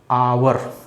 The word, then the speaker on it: hour: क्योंकि इसका जो प्रोनाउंस होता है, जो इसका उच्चारण करते हैं आप, इसका उच्चारण करते हैं आवर, ऐसे लिखते हैं आवर।